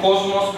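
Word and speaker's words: κόσμος: قريب من السين الانجليزي ولكن لو جه بعده حرف الميم في كلمه يونانيه بنطقه زين زي كلمه كلمة كوزموس كلمة بيرافوس كلمات يونانية لما جه بعدها مين نطقه زين كوزموس بيرازموس لكن لو كلمه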